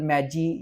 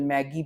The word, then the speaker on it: Magi: Google एक new system बना रहा है जिसको गूगल मैजी या गूगल मैगी भी कह सकते हैं, इसकी डिफरेंट प्रोनाउंसिएशन है।